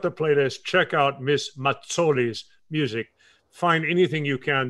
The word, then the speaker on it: Mazzoli: You have the American pronunciation, which is Mazzoli. But it's Mazzoli. In the old country. It's Mazzoli. Not Mazzoli, but Mazzoli?